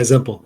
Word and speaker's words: Zempel: Is that Zempel, or is that how you pronounce it? Yeah, Zempel.